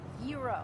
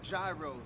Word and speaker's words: gyro: telling you, Joe, it's pronounced Gyro. Yeah, but in New York, we call them gyros.